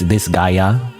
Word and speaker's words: Disgaea: That's how you pronounce that, like Disgaea? It's a funny name because it just makes me think, well, it's like this guy, you know, as in like this guy. But no, it's Disgaea.